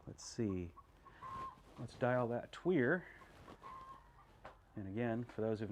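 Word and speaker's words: tuyere: with it uh let's see let's dial that tweer and again for those who've not been on the stream before and don't know what a tweer is it's a french word no really i'll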